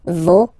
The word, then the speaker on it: vos: Okay, so remember, even if you get this final S, you don't pronounce it, as it was the case already for this word, no, you don't pronounce the final S, vos, you don't pronounce it, leur.